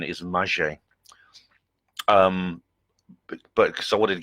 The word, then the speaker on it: Magé: I did check the pronunciation. It is Magé.